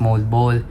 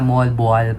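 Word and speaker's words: Moalboal: So yeah guys, mayico-correct pala ako kasi akala ko ang basa or ang pronunciation nung pinuntahan natin is mold bowl. Hindi pala moalbal pala yon.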